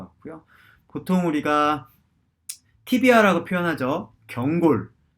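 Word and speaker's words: tibia: 자, 경골은 보통 티비아라고 저희가 많이 발음을 합니다.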